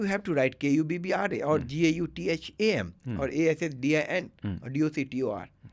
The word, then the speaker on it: Gautham: So I don't have to add the H when I'm pronouncing. I don't have to Gautham.